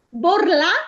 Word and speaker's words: borlà: Borlà intera. Allora, borlà sicuramente è una tronca, per cui la A va accentata.